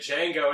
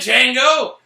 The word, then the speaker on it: Django: says something about did chango he goes the D is silent it's not dead Django okay uh before we